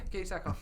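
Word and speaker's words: Katee Sackhoff: Yeah, Katie Sackhoff.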